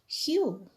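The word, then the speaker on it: whew: the world then what's the response of pranjol hu have you seen the word w w-h-e-w its pronunciation is huge w is silent so what's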